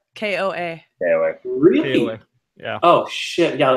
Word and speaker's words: KOA: they the prints apart I thought it was hola Cola campground no I'm not saying it right koa yeah really yeah oh